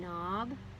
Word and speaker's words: knob: hard k sound oh so this k in knob is silent now here we have